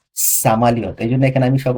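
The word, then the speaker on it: самолёт: এখানে আমি বলতে পারতাম এসা, এসা, এস, এসা, এসা মালিয়ত। এসা মালিয়ত হয় না, হয় হচ্ছে সামালিয়ত। ওই এরকম উচ্চারণ হয়, সামা, সামা। বুঝতে পারছেন?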